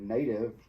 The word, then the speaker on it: native: So native, and almost always in English, if a word ends in the letter E, the E is silent.